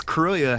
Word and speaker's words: Kroya: No, I pronounce Kroya how I do, because it is spelled vaguely similar to LaCroix.